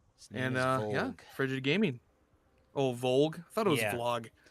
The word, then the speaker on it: Volg: It's Volg, goddammit. If he pronounces that vlog, then we're gonna have to talk about our grammar lessons again, because that's not how words work.